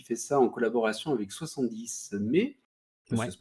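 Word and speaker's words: 70mai: Donc c'est un Xiaomi qui fait ça en collaboration avec 70 mai, ça Ouais. se prononce comme ça.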